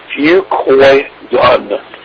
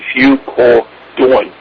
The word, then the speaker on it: Fucoidan: Fucoidan, F-U, and it's pronounced C-O-Y, like koi, and D-A-N is pronounced like D-O-N, Fucoidan.